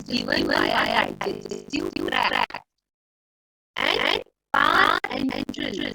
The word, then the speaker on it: parenteral: And parenteral, pronounced like that, parenteral, no, par, which is